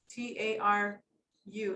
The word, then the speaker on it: Taru: Her name is Natalia, and the male behind you is Taru, Taru, accent on the U.